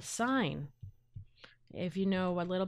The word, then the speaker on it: sin: So sine, and yes, it's spelled sin, S-I-N, sine over time.